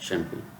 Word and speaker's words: champagne: French भाषा में CH का उच्चारण शा होता है। CHAMPAGNE, जी यहाँ पर साइलेंट है।